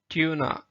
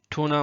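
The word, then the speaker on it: tuna: एक स्टोरी है the hair and टर्टाइस, बट इसका असल प्रोनाउंसिएशन जो है ना वो टोर्टस है, टोर्टस। ठीक है। कछुआ। ट्यूना, टूना मछली, इसको टूना भी बोलते हैं या ट्यूना, अक्सर कैन डब्बों में आता है टूना फिश।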